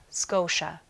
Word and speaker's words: Scotia: The next province over is Nova Scotia. The T in Scotia sounds like sh. Novas Scotia.